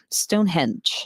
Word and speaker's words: Stonehenge: Stonehenge.